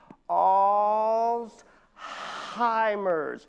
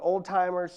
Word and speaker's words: Alzheimer's: It's pronounced Alzheimer's. Everybody with me now. Alzheimer's. There is no T in that word, y'all.